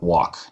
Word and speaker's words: walk: you say the word walk wal K in English in many kylix you don't pronounce the L Korean actually has the